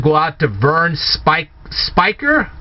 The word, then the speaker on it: Speicker: out to Vern spike Spiker I believe that's how your name is pronounced Spiker and if it's